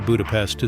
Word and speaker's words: Budapest: And one more important note, make sure to pronounce the name of the capital correctly. It's budapestt, not budapest like the word for insects in English.